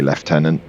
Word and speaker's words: lieutenant: my American friends um is spelled exactly the same way as you spell lieutenant but it is actually leftenant um it's just some weird English pronunciation of the word which makes no sense at all this controls really nicely